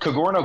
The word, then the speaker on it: Cogorno: you know so the kagoro golf c g o r n o um it's pronounced kind of like a Douro pizza but with a c kagoro golf that way